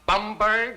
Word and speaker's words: Bomberg: than fail this course my name is is bomberg it is not bomberg it is not bber it is not bimber it is bomberg you'll all do yourselves a great favor by not mispronouncing my name if anyone here